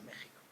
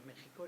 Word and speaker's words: México: En México es un poco diferente de la J española, pero bueno, a efectos contables es la J con la cual se pronuncia México.